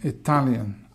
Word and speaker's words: Italian: Italian on the second, I'm Italian, I'm Australian, I'm Canadian.